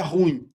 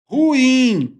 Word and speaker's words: ruim: Não, não é ruim, é ruim. Ela é uma palavra oxítona.